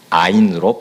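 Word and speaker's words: עין: 샘이 우물과 눈 사람 눈은 아인으로 발음이 갔습니다 우리 말에이 사람 눈과 하늘에서 내리는 눈이 같듯이 히브리어 아이는 샘 오물 또는 사람의 눈도 같은 발음 아인입니다 우스갯소리로 여러분 잘 들어보십시오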